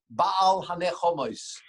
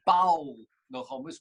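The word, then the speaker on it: בעל הנחמות: in benching, we say ba'al hanechomos, which means the master of comfort. Don't pronounce that ba'al nechomos, which means no comfort, cannot give comfort.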